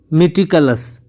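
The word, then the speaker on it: meticulous: मेटिकलस होता है इसका प्रोनाउंसिएशन।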